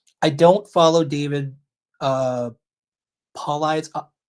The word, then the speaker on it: Paulides: I don't follow David uh Paulides. Pauley, so you can pronounce it right.